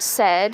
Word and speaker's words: said: words like the word said he said good morning and see that it looks like it should be pronounced say with the a and i saying a.